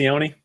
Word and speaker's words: Sione: It's funny, out of all I think I mispronounced his first name, but I said Takitaki correctly. I think Sione's correct. Is it Sione?